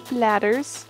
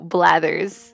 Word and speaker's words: Blathers: to donate something to bladders with bladders no blathers i should pronounce that actually donate i have